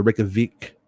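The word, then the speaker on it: Reykjavík: Vic is pronounced like Veek, like weak, but with the V. So Reykjavik.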